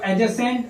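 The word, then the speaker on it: adjacent: यहां डी जो है वो साइलेंट है, तो एडजेसेंट एंगल।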